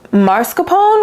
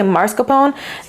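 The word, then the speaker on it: mascarpone: a sec is it I think it's pronounced marscapone which is confusing to me like whenever I watch bacon shows they say Mar Capone ain't no R though it's mass and then I also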